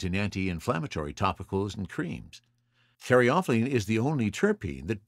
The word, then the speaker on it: caryophyllene: And now we come to caryophyllene, and I have also heard an alternate pronunciation of this, so I'll throw that out as well, and caryophyllene. So caryophyllene or caryophyllene. Either way, it's best known for its spicy and peppery note. I prefer caryophyllene.